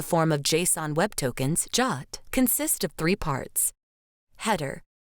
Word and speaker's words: JWT: Jot pronounced Jot and written as JWT is an internet standard for creating encrypted JSON payload data.